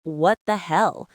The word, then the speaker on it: what the hell: Let's take what the hell. It's not plain, it's what the hell? The stress is on hell.